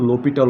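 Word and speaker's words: L'Hôpital: Alright, so এটা আসল উচ্চারণ তোমরা যেটা করবা বা তাকে যে নামে ডাকবা সেটা হচ্ছে যে এখানে তাকে ডাকবা হচ্ছে তোমার ল পিতাল, অথবা তোমরা ভাবলো হচ্ছে লোপিটাল, ওটা বলতে পারো লোপিটাল।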